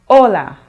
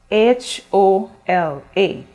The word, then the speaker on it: hola: in spanish it's spelled h-o-l-a in english we will say h-e-l-l-o hello but in spanish you say hola do you notice the difference in pronunciation the h is silent in spanish words so we do not